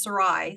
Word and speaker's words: Saray: a difficult name too my first name is Sarai so s it's often mispronounced and I I totally relate I understand